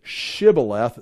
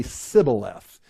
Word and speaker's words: Shibboleth: They say Shibboleth, they say Sibboleth.